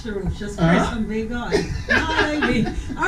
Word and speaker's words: Baigon: The name is pronounced Baigon, but I spell it Baigon.